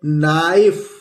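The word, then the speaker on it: knife: इसी तरह दोस्तों लिखा हुआ है के साइलेंट होता है, ये लिखा है नाइफ।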